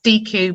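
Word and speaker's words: DIKW: you refer to the di kw pronounced dq model data information knowledge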